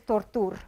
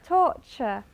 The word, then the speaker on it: torture: Because everyone says tortur or something like that. No? We won't, from now on, remember, torture, furniture, future, okay? Not futur, and all these nice, horrible inventions that we have to listen to.